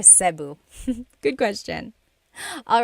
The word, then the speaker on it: Cebu: So, technically in the Tagalog alphabet, the letter E can be pronounced E or E like the letter I. So, I say Cu. Cebu. And I know some people say sabu, but usually it's either sibu or sebu.